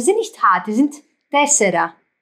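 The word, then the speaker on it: τέσσερα: Aber im Griechischen, die Konsonanten, die sind nicht hart, die sind tessera. Es ist nicht wirklich tessera, es ist aber tessera. Es ist immer noch eine T. Ist ein Mittelding zwischen weich und hart ausgesprochen.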